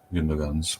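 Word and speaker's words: Gündoğan: being close to what Gundogan's was. Yeah. Sorry, I'm a stickler for this one because I definitely butcher names, but it's Gundogan. That G Sorry. is silent.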